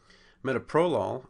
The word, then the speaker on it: metoprolol: Metoprolol becomes metoprolol. Again, we're changing that accent from the second syllable to the first, and we're going from two open syllables, one closed syllable, to two closed syllable, one open syllable, a much more comfortable thing for an English speaker to use.